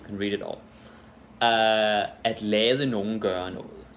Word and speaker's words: lader: But very often we'll actually say it the fast way, like la. Like you could say, jeg lader dig gøre det. Jeg lader dig gøre det. Right? So it's like L-A apostrophe, that's how you pronounce it. But we spell it L-A-D-E-R, in the present tense.